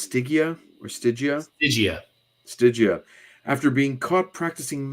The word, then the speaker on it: Stygia: Is it pronounced Stygia or Stygia? Stygia.